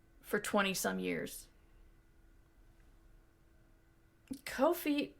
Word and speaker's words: Ko-fi: Ko-Fi rhymes with no fee.